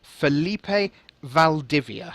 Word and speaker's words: Felipe Valdivia: right now uh now have have I actually pronounced your name correctly if I go for Felipe Valdivia how am I doing yeah that's that's great that's very accurate thank you go me